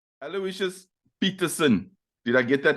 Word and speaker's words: Aloysius: Greenpoint Saint John's and there I was told the proper pronunciation which is Aloysius and not Aloysius or a Lucius Okay cool so so